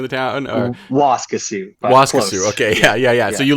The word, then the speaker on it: Waskesiu: I always get the pronunciation right. Waskesiu, right? Is it Waskesiu? Is that the name of the town? Or? Waskesiu.